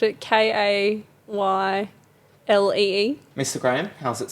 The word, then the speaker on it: ceilidh: spell it. People spelled it Kaylee.